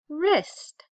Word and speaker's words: wrist: to the wrist okay we were working on what two letters have the r sound with a silent letter in the front do you remember I hope you said W because that sound is just r with the silent W all right down here